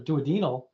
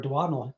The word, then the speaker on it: duodenal: So, most of your ulcers are duodenal or duodenal, depending on pronunciation.